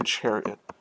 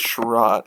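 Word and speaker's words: Chiarot: ben shara ben sharat i always want to say chariot is schroth is how it's pronounced i know that one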